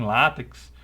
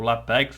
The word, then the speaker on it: LaTeX: escrever formas matemáticas em látex ou latex aí como vocês queiram pronunciar entre outros recursos como